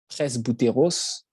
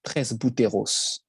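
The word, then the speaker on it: πρεσβύτερος: pas de différence en grec ancien se dit presse bouteros ça se prononce comme ça 13 bouteros c'est de ce mot que vient le mot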